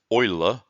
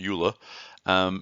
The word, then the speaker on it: Euler: thank him for taken to oiler it is pronounced Euler by the way that's what it says here oiler and if you want to you can listen